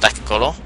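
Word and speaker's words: Lekgolo: And it's not how you pronounce it. I think how you actually pronounce it is Lek Golo. But I just say Lek Golo so you guys kind of get to have the pronunciation of it.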